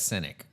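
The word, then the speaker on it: Sinek: I' I've seen him pronounce it on YouTube. He says cynic.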